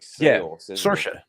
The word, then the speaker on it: Saoirse: There's like Saoirse. Saoirse. Yeah. Yeah, Saoirse. But it's spelled.